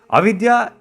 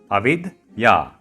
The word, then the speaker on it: Avidya: Avidya is not exactly magic, but something along that line. Again, it's pronounced as Avidya, Avidya Forest.